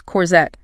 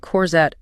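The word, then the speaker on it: courgette: Respect the French origin. Pout your lips. Corsette. And remember, the stress is at the end. Corette.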